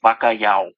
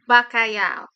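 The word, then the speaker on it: bacalhau: you a little Portuguese Le here is it's pronounced bakay bakay bakay bakay okay all right yeah so what's it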